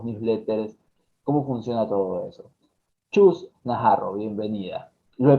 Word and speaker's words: Chus Naharro: Chus Najarro, bienvenida. Lo he pronunciado bien, creo.